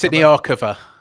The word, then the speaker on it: Siniakova: Is that how do you pronounce that one? It's Siniakova.